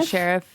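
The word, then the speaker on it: Scherff: Sheriff? Yeah, Sheriff.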